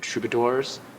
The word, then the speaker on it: Troubadoors: about what this is It's called The trador and it's spelled D o o r s like adore and I'm like okay